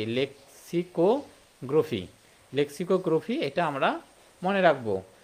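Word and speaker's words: lexicography: হচ্ছে গ্রোফি বা গ্রাফি গ্রোফি উচ্চারণটা হবে হ্যাঁ গ্রোফি তাহলে এটা একটু মনে রাখবো যে অভিধান তত্ত্বের একটা ইংরেজি নাম রয়েছে হ্যাঁ সেটা হচ্ছে কি লেক্সিকো গ্রোফি গ্রাফি এটা আমরা মনে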